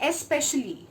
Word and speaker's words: especially: We place an imaginary X while we pronounce it in a quicker way.